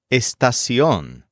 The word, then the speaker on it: estación: Our next word is estación, which means station. This is spelled E-S-T-A-C-I-O-N with an accent on the O.